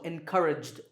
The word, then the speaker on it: encouraged: Here the last sound is j, which is voiced, so encouraged.